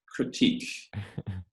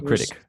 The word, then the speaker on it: critic: I'm my worst critique. Is that how you say it? A critic. Critic. Yes, I was almost there.